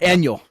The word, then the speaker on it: Aniol: Uh Scott Aniol what some of his tweets It's I've been told it's it's annual like Daniel. Like Daniel. You know, without the D. Scott Aniol.